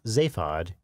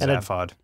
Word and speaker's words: Zaphod: The name Zaphod is stitched on his shirt. I pronounce it Zaphod. In the British, stuff, it's pronounced Zaphod.